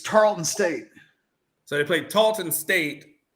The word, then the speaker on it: Tarleton State: them so tall to the Talton state it's Tarleton State so they played Talton